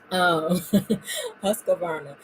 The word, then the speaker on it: Husqvarna: I Husqvarna, thank you very much. There shouldn't be a sewing machine that I don't know how to say the name of, but that one always eludes me. Husqvarna.